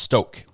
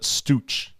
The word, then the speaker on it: Stauch: Pronounced Stoke. Stoke. I would pronounce it Stauch. This is how I was pronouncing Stauch or something, but Stoke. We're going to have to spell it Stoke in my head.